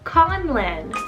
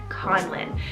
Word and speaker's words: Conlan: manly we have the name conlan spelt c-o-n-l-a-n conlon this name literally means